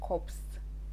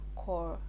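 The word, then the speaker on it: Corps: national youth service corp they don't pronounce it as cops it is usually core that's the right way to pronounce it because when they want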